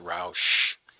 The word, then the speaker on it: Roch: slip here for Roch. That's me. And I asked for an easier name when I was born. Just ignored me. My last name is pronounced Roush. That's the way we say it.